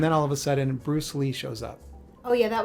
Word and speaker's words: Bruce Le: oh it's Bruce Lee it's spelled l e but it is technically Bruce Le and when he popped